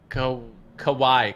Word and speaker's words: Kawhi: Kawhi. Kawhi. That's how you pronounce it.